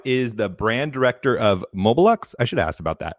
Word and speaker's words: Mobelux: the show Rob is the brand director of mobilux I should ask about that is that how